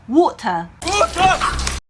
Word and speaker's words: water: 중요한 건 앞에 W 소리에 해당하는 그 워 소리를 잊지 않으시는 거예요. 영국인들은 이렇게 얘기해요. water. 자, 워 하는 그 워 하는 소리도 잊지 않으시고 T 발음하는 거 아무 문제 없습니다. 자, 그리고 끝에 미국 발음에서는 하는 R 발음을 하지만 영국 발음에서는 R 발음이 들리지 않아요.